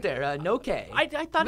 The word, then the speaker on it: Noke: Noke. I thought it's pretty simple. Noke.